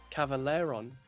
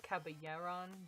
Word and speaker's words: Caballeron: Dr. Caballeron is how it's spelled with a B. Let me send a picture. But it's 2 L's, so Oh. I've always said Caballeron because 2 L's in Espanol.